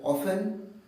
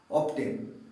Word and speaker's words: often: এখানে এর পার্থক্যটা হচ্ছে মূলত উচ্চারণ, প্রোনাউন্সিয়েশানে। ব্রিটিশরা এটাকে বলা হয় অফেন, আমেরিকানরা বলে কি বলে, হ্যাঁ নিশ্চয়ই ঠিক ধরেছো, অফটেন। ব্রিটিশরা যেটা বলে অফেন, আমেরিকা বলে অফটেন।